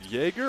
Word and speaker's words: Jagger: This is Jagger Cordova here. Is it Jaeger or Jagger? How were they pronouncing it? No. I didn't hear Bumpy. So. It's Jaeger after the fight.